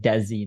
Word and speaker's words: DeeZe: one of those people I've always pronounced your name in my head as and I tell Michael this but I know it's de but I'm like I always just think I don't know why